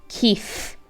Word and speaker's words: Kyiv: The capital of Ukraine is Kyiv. Make sure you're pronouncing it with an F and don't be tempted to use that V because it's pronounced with an F.